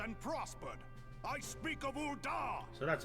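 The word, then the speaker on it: Ul'dah: and daughters flourished and prospered i speak of ulda so that's how you're pronouncing all the ball there at the flame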